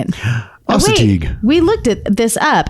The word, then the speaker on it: Assateague: Assateague. We looked at this up. Yeah. Assateague Island.